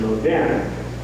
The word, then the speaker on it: moderne: It was really called modern or modernistic, or sometimes the French pronunciation moderne, the Bergstore in Portland, and it was just a typical example of that sort of thing.